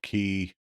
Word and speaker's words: qi: Some people call key. It's spelled QI.